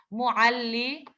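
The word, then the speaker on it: معلمة: It's pronounced as a silent ha.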